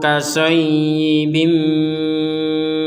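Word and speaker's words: كَصَيِّبٍ: Di sini ada ya yang bertanda tasydid, kita dibacanya dengan tekanan ya, karena ya itu artinya menekan. Ini ya-nya satu ada tasydid, dibaca seakan-akan ya-nya itu adalah dua. Au kasayyi, itu penekanan, harus ditekan.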